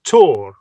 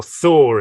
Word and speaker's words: Thor: this thunder will be called tor or thor in in our mispronunciation scandinavian and it's not necessarily personified